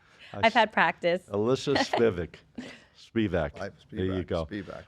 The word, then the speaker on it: Spivack: Spivak.